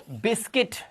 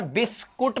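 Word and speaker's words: biscuit: बिस्किट छोटी इ की मात्रा। अब यहां पर बिस्कुट मत कर देना। कुट नहीं है। ई की आवाज बिस्किट। ठीक है? कुट नहीं है ये। ध्यान रखना। बिस्किट सही प्रोनंसिएशन।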